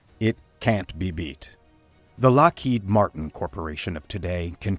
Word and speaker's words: Lockheed: The spelling of Lockheed was changed to Lockheed to prevent mispronunciation.